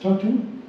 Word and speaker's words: Tartu: Legal Clinic of the University of Tartu, well pronounced, Tartu, thank you, and serves as co-organizer of the Estonian Legal Hackers Meetups.